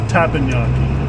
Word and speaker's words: teppanyaki: Teppanyaki.